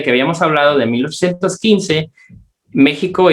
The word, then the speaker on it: México: aunque nos explican aquí que la X se pronuncia como J. Y aquí en mexicanismo mexicano, en este sí lo ponen con X, pero nos explican que se debería de pronunciar con J.